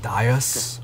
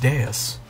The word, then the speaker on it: Deus: Why is that word pronounced like that? So, who's our opener? I always thought it was pronounced like Dias. Yeah, me too. You made the right choice. But it's pronounced Deus.